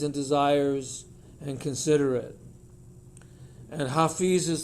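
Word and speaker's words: حافظ: Hafiz means the protector. Both of these words have the same roots, which are H, F, and TH letter, which a lot of people just pronounce as a Z.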